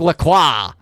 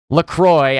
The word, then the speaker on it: Lacroix: Great positioning by Nick Lacroix. LaCroix, I know that's how they pronounce it because they're very Americanized, but I am French Canadian. I say Lacroix.